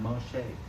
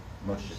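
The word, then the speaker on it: משה: Not Moshe. Moshe. Shay. That's how the kids say it. They're like Moshe. Moshe.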